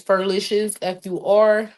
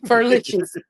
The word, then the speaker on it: Furlicious: It's Furlicious, FURCIL. Wait, I'm not saying it right. Almost couldn't spell it. Furlicious. It's the same thing as delicious.